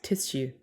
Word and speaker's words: tissue: t i need tissue ss does not make shh it doesn't tissue troy why can't i